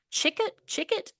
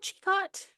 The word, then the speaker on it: Chicot: So Prentice was born in, I don't know how to say this, Chickett, Arkansas, Chicot. It's Chicot, Arkansas. Chico. Chico, Arkansas.